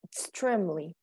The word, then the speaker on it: extremely: Okay, just extremely. That's the correct pronunciation. Extremely. Extremely. Mm-hmm. Without the e, extremely. Just the M.